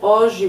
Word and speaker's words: hoje: So it's just like in Spanish, the first H you don't pronounce, so just like hola. But for Spanish speakers, pay attention because the J in hoje is pronounced as a J sound.